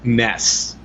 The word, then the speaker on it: NES: I think yeah yeah according to Japan the Nintendo and the NES actually is supposed to be pronounced Ness because we don't know